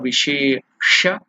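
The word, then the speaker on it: विशेष: Sha, Murthanyasa, Sha. By pronouncing it, you have to touch the upper region of the mouth. So Vishesha, then Arghya Sthapanam.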